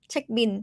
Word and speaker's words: เช็คบิล: And we pronounce L, like transcribe the word from English as N sound, bin at the end. Chék-bin, chék-bin.